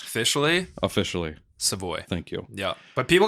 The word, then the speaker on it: Savoie: get the confusion yeah it's a French Canadian my grandpa's a Yer